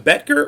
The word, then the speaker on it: Boettger: Man, the wonderful, and is it Boettger or Boettger? Yeah, you said it right the first time. I'm honestly shocked. See, I went to college with someone that their last name is spelled the exact same way, and it's Boettger, so I didn't know for sure.